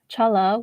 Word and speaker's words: challah: I'm gonna start baking challah.